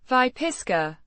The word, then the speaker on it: Выписка: Vypiska, meaning extract, certificate, or medical record.